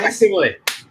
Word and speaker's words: facsimile: By the way, with the Fastest Smile, especially, am I pronouncing that correctly? Facsimile? Facsimile.